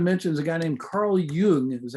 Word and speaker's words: Jung: is a guy named carl jung is how it's pronounced even though it's spelled jung it is pronounced yoon okay i'm not going